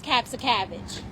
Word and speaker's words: Kapszukiewicz: One task I t this kid council and and kid mayor to do is pronounce caps of cabbage.